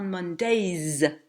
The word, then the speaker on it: Mondays: Pour dire tous les lundis, on dira on Mondays, avec un S qu'on prononcera très clairement.